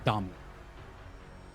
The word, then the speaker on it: Dami: And apparently, like, regarding your question, um, Dami is actually a Saudi player, and it is pronounced Dami.